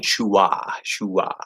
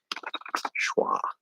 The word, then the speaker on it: schwa: You spelled that very, very phonetic looking. Shua. Yeah, it's schwa. It's a really weird spelled word. It's actually phonetically, I would write schwa like this. How do I do that? Schwa. There's a couple ways I could transcribe it actually, but it's kind of actually like wah. Like I would do it like this.